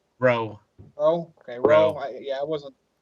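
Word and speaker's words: Roux: How do you pronounce the name? Does anybody know that? Rowe.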